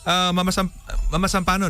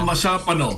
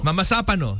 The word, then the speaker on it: Mamasapano: Mama Sampano, no? Tama ba? Tama ba yung pagka-pronounce natin? Mama Sapano. Mama Sapano.